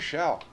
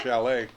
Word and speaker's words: Schall: Yeah, Rosemary Schall. That's how you say it. I'm sorry. Oh, she will smack your wrist if you call her Chalet.